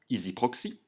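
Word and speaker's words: EZproxy: Ensuite, tu peux cliquer ici sur Accès à distance, EasyProxy, ou ici sur EasyProxy. EasyProxy, ça s'écrit avec EZ, mais ça se prononce Easy.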